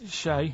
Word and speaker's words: Che: Shay is like shake, and his surname is like guitar.